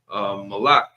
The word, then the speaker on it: Molech: And and Molech, from my understanding, that's not even a formal name. That's just kind of a generic title. Malik, it means king. I'm just giving a different pronunciation here.